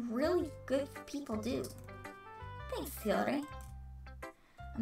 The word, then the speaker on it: Yuri: Thanks, Yuri. I'm not sure if Yuri sees the full picture of my motive here. Quit rolling your tongue. You keep going rolling. It's Yuri. It's Yuri.